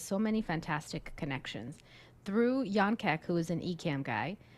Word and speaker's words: Jan: so it's j an it looks like Jan but it's pronounced Yan K C so shout out check out Yan he through him I